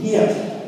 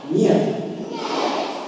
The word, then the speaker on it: Нет: Нет. Нет. See, the letters look like letters in English, but they have completely different pronunciation.